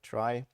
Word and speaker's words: trie: uh awkward naming convention it's spelled like in retrieval but pronounced like try to not have another word that sounds like tree um and uh it